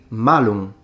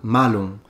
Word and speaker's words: malum: Latin if you say malum with just a short a malum you're saying evil but if you say with a long a it means apple and there are plenty